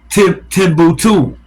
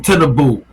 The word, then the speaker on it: Tinubu: Now Nigeria is having some type of uprising to get rid of the puppet Bolo Ahmad Timbuktu. Tinubu. I pronounced that wrong. Tinubu.